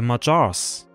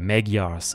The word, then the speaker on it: Magyars: And right after that, I'm also going to upload another documentary about the Magyars, or the Magyars in English.